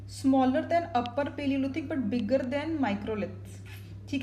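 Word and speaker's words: Bagor: आप गुजरात में एक जगह है लंगांच पाडन प्रोनाउंसिएशन लंगांच बोल रही हूं मैं इसको और राजस्थान में एक जगह है बगार बी ए जी ए आर और ये दोनों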